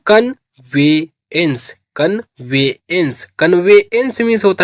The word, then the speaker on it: conveyance: तो प्रोनाउंस करेंगे इसको CON इसे पढ़ते हैं कन। क्या पढ़ते हैं? कन। और VE इसे पढ़ेंगे वे। क्या पढ़ेंगे? वे। और YA इसे पढ़ेंगे ये। क्या पढ़ेंगे? ये। NC आधा ना और सा पढ़ेंगे। ई का प्रोनाउंसिएशन नहीं होता। तो ये हो गया कन्वेंस।